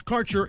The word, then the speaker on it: Kaercher: Your connection to quality cannabis insurance services is spelled Kaercher. That's Karcher Insurance. We have worked with ventures like cannabis for over 60 years.